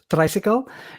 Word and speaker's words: Traysikel: uh Adventure module uh tricycle or phonetically as it's pronounced tricycle is a system agnostic